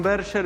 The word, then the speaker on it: Berger: Un árbol para John Berger. Sí, es un árbol para John Berger, en realidad se pronuncia.